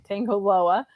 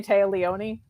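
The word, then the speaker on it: Tanga Loa: Wayne hitting uh Tango I can never say his name tangoa on the floor I always want to say ta Leoni just like a brain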